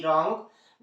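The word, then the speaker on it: wrong: नहीं किया जाता है आर से इसका प्रनंसीएशन होता है जैसे डब्लू आर ओ एन जी रोंग व आर आई टी राइट व आर आई एस T wrist okay तो यह थी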